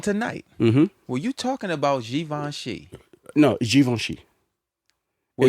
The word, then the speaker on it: Givenchy: And it's pronounced Givenchy.